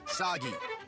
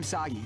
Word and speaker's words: Sogi: The cliche burden boy of action who will save us all is named Saggi. This is kind of overdue, but I'm Sogi. rhymes with Saki.